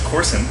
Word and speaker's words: Korson: I will step in and just say it's Corson K and it's pronounced corow chocolate okay so corow I called